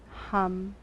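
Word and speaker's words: ham: the breath comes in repeat the sound hum h-a-m simple and clear and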